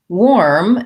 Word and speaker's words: warm: Warm has the letters AR, but the sound OR.